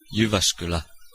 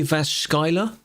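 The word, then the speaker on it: Jyväskylä: Yuvascula. Yeah. Okay, that's close enough. Yvascular. If you wanted to really butcher it, you'd pronounce it like J. Jascala.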